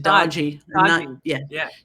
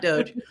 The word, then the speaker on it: DOGE: I can't remember who said we should pronounce it dodgy. Dodgy, not doge. To see them cutting off U.S.